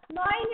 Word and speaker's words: gnawing: Here the G is silent.